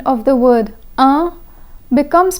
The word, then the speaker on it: un: So the word un, which precedes ami, ends with the consonant n, which is silent.